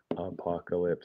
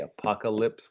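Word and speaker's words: Apokolips: Yeah, just Apocalypse. It's spelled with a K. Apocalypse with a K.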